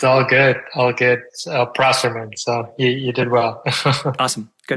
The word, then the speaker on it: Prosserman: a cultural thing it's all good all good prman so you did well awesome good okay so